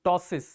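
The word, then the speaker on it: ptosis: open नहीं होगी तो आप एक वर्ड यूज करते हैं टसिस उसमें पी साइलेंट होता है डेफिनेटली टॉस दिखेगा आपको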